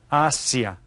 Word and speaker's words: Asia: large continent this is Asia Asia you can see that it's spelled the same as in English but it's pronounced a little bit different Asia okay and then we